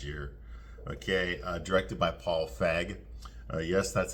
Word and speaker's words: Feig: So anyway, The Housemaid here, it came out last year, okay, directed by Paul Feig. Yes, that's how you pronounce his name.